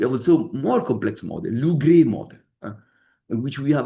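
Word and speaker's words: LuGre: Lou-Gray model. You know that? Lou, G-R-E-E in English. G-R-E-E. Lou-Gray, the gray because came from Grenoble. In English, probably Lou-Gray, you can say, but somebody pronounced Lou-Gray because it's Grenoble.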